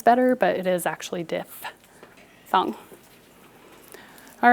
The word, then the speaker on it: diphthong: diff thumb in teachers it actually is pronounced diff with an f dif thong because it's spelled d-i-p-h a lot of people erroneously pronounce it diphthong which i think sounds